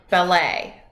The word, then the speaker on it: ballet: hi in French salut notice that in French when something ends with a T we don't pronounce it that's why in the word ballet it looks like ballot but it's actually pronounced ballet and this is for